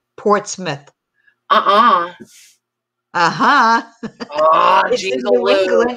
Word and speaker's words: Portsmouth: you get an i it's pronounced Port Smith uhuh uhuh New England